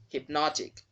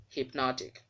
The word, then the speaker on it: hypnotic: the second syllable the sound of the letters there will also change so hypnosis changes to hypnotic notic not notok take note the word is hypnotic ballistic ballistic endothermic here